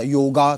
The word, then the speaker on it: योग: अब जैसे योग दिवस आ रहा योगा क्यों भाई योगा योग योग है ना वो मोक्षा चक्र